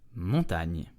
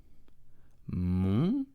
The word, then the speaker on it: montagne: The n together make one sound, okay? So GN is n, like the ni in onion, okay? So never a hard G followed by an N.